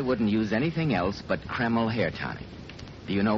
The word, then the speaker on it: Kreml: And men, I'm right here to tell you I wouldn't use anything else but Kreml hair tonic.